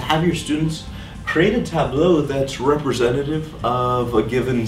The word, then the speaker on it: tableau: here, which is titled Tableau. Yes, it does sound a little different. The word's spelled like table with an A and a U at the end.